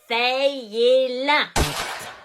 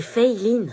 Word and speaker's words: Feyeline: C'est Feiline. Fayez-la. Feyeline? C'est Feiline. Bah, c'est écrit Feyelin. Oui, mais ça se prononce Fei, c'est américain en fait, et Line parce que c'est asiatique.